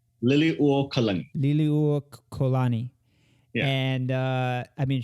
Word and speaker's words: Liliuokalani: Liliuokalani.